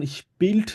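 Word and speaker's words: spielte: জিনিস আপনি খেয়াল রাখবেন যখন স্পিল্ড বলবেন আপনাকে টি টা একদম ক্লিয়ারলি উচ্চারণ করতে হবে ঠিক আছে স্পিল্ড মানে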